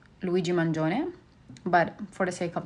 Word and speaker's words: Mangione: nonviolent and on a side note Luigi Manon is actually pronounced Luigi Manon but for the sake of the episode I